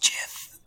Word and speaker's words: Gith: The Raven Queen appears and whispers to them, "It's pronounced Jith," and then fades.